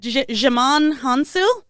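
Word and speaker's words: Djimon Hounsou: How do you pronounce that? Jimon Hansu?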